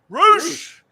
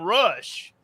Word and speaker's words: Rush: And so when he came on TV, I said, Roosh. I kept saying Roosh. And then Misty said, said, Who? They're not pronouncing his name right, Brian. I said, what do you mean? Well, they called him Rush.